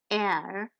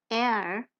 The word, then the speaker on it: R: The R sound is made whilst opening the mouth wide and rolling your tongue up to touch the upper part of the mouth and saying air. The second sound of the German alphabet air, R, is the sound that